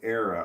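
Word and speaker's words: Aara: what's a dog and my name is pronounced era okay so a a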